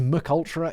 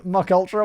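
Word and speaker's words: MKUltra: like that mk ultra which i pronounced mcultra in a video once people were like ah mock ultra what are you dumb and i'm like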